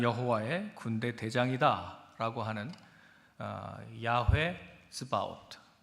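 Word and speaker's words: צבאות: 나는 여호와의 군대 대장이다라고 하는 야회 스바우트 제가 체바우트라고 한글로 써 놨는데 보통 한글 표기를 저렇게 해서 그렇게 쓴 거고요. 어 실제 발음은 스바우트입니다.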